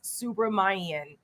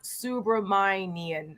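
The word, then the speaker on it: Subramanyam: It's Congressman Suhas Subramanian. He's got a tough last name to pronounce, but it's Suhas Subramanian. I think that's how you pronounce it.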